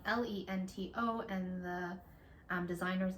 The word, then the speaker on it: Lento: beautiful like Graphics popping up that say like lento by like Jonah Hilla here like because we